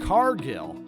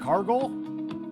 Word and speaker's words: Cargill: Carmelo Hayes trick Williams He mispronounces Jade Cargill Jade cargle Jade looked a little